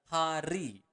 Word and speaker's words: hari: You want to pronounce the the word R clearly. Hari.